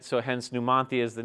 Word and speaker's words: Numanthia: honor the town but if you apply the the dialect and Spanish and how numia would be pronounced is numanthia right so hence numanthia is the name of